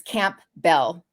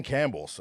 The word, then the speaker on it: Campbell: one n and it's camp belle i didn't know there was a p in campbell until i got married right you know i was like the p is silent apparently and then if they